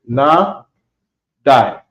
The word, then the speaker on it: Nadai: Okay, Nadai. You pronounce it Na Die.